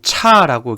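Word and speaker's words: CHAR: 보통 차라고, 캐릭터에서 차라고 읽게 되고요.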